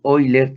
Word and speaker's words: Euler: físico y matemático suizo leonhard euler algunos lo pronuncian como oí leer también quien introdujo la